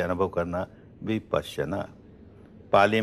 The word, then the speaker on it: विपश्यना: उच्चारण नहीं कर पाते विपासना कहना बिल्कुल गलत है संस्कृत में समझे तो विपश्यना पना कहते हैं देखने को विपश्यना विशेष